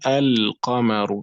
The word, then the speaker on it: القمر: So to pronounce qamarun with alif and lam, you say Al. You say al-qamaru.